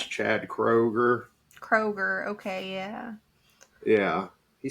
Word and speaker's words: Kroger: Yes, and then downgraded to I think his name's like Chad Kruger or something from Yeah, it's Nickelback. Chad Kroger.